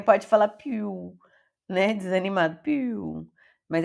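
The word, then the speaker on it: più: fosse Nossa crase Então quando você vê palavras aqui como perot ti piu e vê o acento contrário essa é a sílaba forte e ele é o som aberto Peró tit piu Pi Piu não é muito aberto né mas tenta falar aberto piu porque também pode falar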